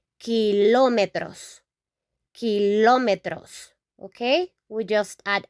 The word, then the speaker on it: kilómetro: In Spanish, we pronounce this kilómetro, kilómetro.